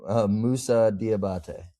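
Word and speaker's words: Moussa Diabaté: Musa Diabate.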